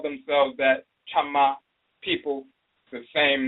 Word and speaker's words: Chama: They say Chama, and they'll spell it with a K-Y, Chama. Sometimes they spell it with a T-C-H-A-M-A, Chama. And sometimes they spell it with a K-A-M-A, Kama, or C-A-M-A, Kama. So Chama and Kama is the same pronunciation.